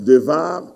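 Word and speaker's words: דבר: Et devar, ça se prononce devar, mais le rendement dans les versions françaises, c'est bar, lo, débar, débar.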